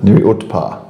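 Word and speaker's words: Nuriootpa: The Nuri Uta is a township that nobody can pronounce. Nuri. Yeah. Nur close. Nuri Utar.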